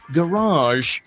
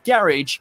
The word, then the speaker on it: garage: for its own good it's often pronounced with a long a at the end in America sounding more like garage but this way also